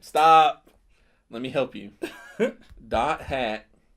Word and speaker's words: .hack: .hack. That's what it's called. .hack GU last recode. There's a whole bunch of other stuff in there but that's how it's pronounced.